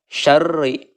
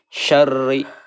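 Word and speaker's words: شَرِّ: Selanjutnya syar ini adalah mengenai hukum ro, dibacanya harus tipis ya, karena ro berharokat kasroh. Syarri, sempurnakan dulu tasdidnya, lalu kita dan dibacanya harus tipis. Syarri.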